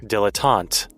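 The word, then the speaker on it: dilettante: Uh, I don't know how to pronounce this word. Is it dillante? Let's see. Dilotant.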